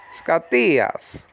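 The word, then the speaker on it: σκοτίας: Don't forget the acute marker pointing to 7 o'clock, okay? Telling you to raise the pronunciation of that second syllable, okay? Scatias. Scatias. You know, like that, like almost an Italian would say it.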